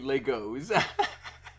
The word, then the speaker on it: Lego: So, if only real life clicked together like Lego. I mean, Legos. T, are you going to now just pronounce it Legos every time?